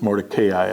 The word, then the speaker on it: Mordecai: at work, that Mordecai, I always pronounced it Mordecai, I'm sorry. I will continue my pronunciation since it's, of course, correct.